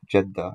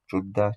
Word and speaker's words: Jeddah: Al-Judda, that is modern-day Jeddah, and not stated here, but it's pronounced Jeddah as well. Judda, Jeddah, Jeddah, God knows best.